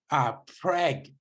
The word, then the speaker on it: PREG: Preg. Great. Like pregnancy.